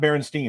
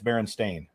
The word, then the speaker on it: Berenstain: don't know yeah yeah it's not Berenstein it's Baron stain s-t-a-i-n osed weights yeah the